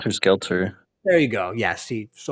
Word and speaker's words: Helter Skelter: Yeah, the name of his cult or his ideology was Heckler Scheckler, like Schechter. I I think it can't was even pronounce. Helter Skelter.